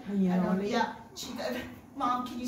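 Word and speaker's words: Bagnoregio: Cività di Bagnaroglio. Did I say it right? Bagnaroli.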